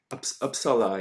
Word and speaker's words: Uppsala: showed us some Viking graveyards, and we had Uppsala. Uppsala, yes. Am I pronouncing it correctly?